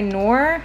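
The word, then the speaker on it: Knorr: of chicken flavor rice by noir i think that's how you say that i think the k is silent but these are great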